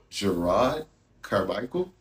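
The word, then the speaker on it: Jerrod Carmichael: His name is Gerard Carmichael.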